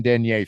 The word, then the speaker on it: denier: I mean, the French way is denier, but people in the U.S. say denier.